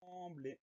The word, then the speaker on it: sembler: Première syllabe, sans, on va l'écrire S-E-M. Pourquoi un M? Parce que derrière, on a un B. C'est la règle du M devant MBP. Donc, S-E-M pour le début du mot. Deuxième syllabe, blé, B-L-E-R. Le son E s'écrit E-R parce que ce mot-là est un verbe. Donc, on fait surtout attention à ce son en qui s'écrit E-M, sembler, S-E-M-B-L-E-R.